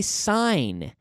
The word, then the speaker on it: sign: This is a sign. S-I-G-N. There is a silent G here. A silent G. Sign. Sign. Like a stop sign.